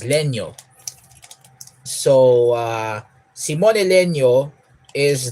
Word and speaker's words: Legno: Leno Le uh legno it's actually legno the spelling is legno but since he's Italian I pronounce it as Leno so uh Simon Leno